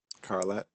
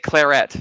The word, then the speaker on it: Carlette: wanting to say Claret, not Carlet. It's Scarlet, but without the S. But this, Yeah, yeah. I got that part. If there was So an it's accent, Carlette.